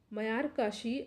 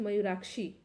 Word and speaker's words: मयूराक्षी: निम्नलिखित में से कौन दो राज्य मयूराक्षी, ठीक है, मयूराक्षी है, यहाँ प्रोनाउंसिएशन में थोड़ा मिस्टेक हो गया, मयूराक्षी परियोजना से लाभान्वित हो रहे हैं।